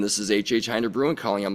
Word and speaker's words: Hinder: know, a few weeks later saying, "This is HHinder Brewing calling." I'm like, "Ah, that's how it's pronounced."